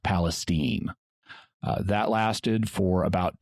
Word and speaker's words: Palestine: And yes, Palestine, Texas is pronounced Palestine.